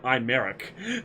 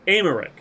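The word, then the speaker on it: Aymeric: I called him Imeric. Because it's a Y. So it's Emeric. Means the Y is silent, just like freaking Alpha Nu.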